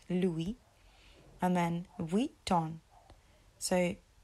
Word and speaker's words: Louis: always hear people saying Luis Luis um and actually it's Louis so we the S is silent Louie and then we Don